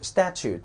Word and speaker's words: statute: 第一个词 statute，注意 statute 这个 t 一定要发出来，因为 e 不发音了， e 不发音了叫 statute 啊，叫法令